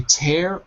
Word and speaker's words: tear: tear te yeah tear good I would say tear or rip paper for number four tear or